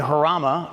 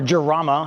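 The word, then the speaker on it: Jarama: This is a 1972 Lamborghini Harama or Gerama, however you want to pronounce it.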